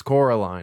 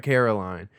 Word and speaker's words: Coraline: she has to correct them constantly no it's Coraline not Caroline um even whybe does this too they they all just constantly uh mispronounce her name and kind of ticks her